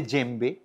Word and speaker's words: djembe: এটাকে বলে জেম্বে। বানানটা একটা অন্য রকমের, ইংরেজিতে যখন আমরা স্পেল করি DJEMBE, ডিটা উচ্চ থাকে আর কি, সাইলেন্ট থাকে।